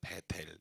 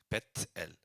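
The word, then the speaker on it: 벧엘: 개혁은 베이고 세 번역은 베델 예 발음은 베엘이에요 정확히 말하면 베엘 그 엘이 하나님이고 베가 집이에요 그니까 이걸 연음으로 하니까 엘로 할 거냐 베델로 할 거냐는 선택이에요 예 그래서 뭐 저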